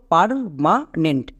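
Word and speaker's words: permanent: জন্য হয়ে যাবে ফার অনেকে একে ভুল করে পের উচ্চারণ করছো পের কিন্তু হবে না নেক্সট এম এ এর জন্য হবে মা এম এ এর জন্য মা।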